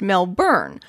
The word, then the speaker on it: Melbourne: voice to the confusion i've always found that the name sounds most natural and recognizable if pronounced mel burn regardless of your accent you're not alone in this situation though i've heard other american podcasters attempt their own australianized pronunciation and come up with mel bin perhaps this all would